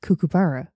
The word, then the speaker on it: kookaburra: We wake up to the sound of kookaburra and kangaroos grazing on the front lawn." The fuck's a kookaburra? A bird. Kookaburra. Kookaburra, I believe it's pronounced, yes.